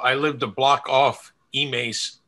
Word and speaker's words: Emmaus: lived a block off emace emmaus avenue over in allentown and of course i remember the people who weren't from the local area who always pronounced it emails right it's like an